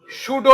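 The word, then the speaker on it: pseudo: করে সবাই একটু ভালোভাবে খেয়াল করবা এনস কি উচ্চারণ হবে সুডো NMOS P এস ইউ ডি ও সুডো এনমস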